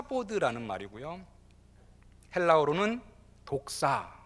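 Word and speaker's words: δόξα: 라는 말이구요 헬라 울음은 독사 뭐 우연하게 제 발언이 독산 모도리 등 된 뭐 비슷한 건데 여기서 그 의미는 아니구요 원어 발음 이 독사 라는 것입니다 그런데 이 카 보드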